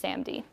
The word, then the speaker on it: SaMD: just this product and this is pronounced SAMD and SAMDs are pretty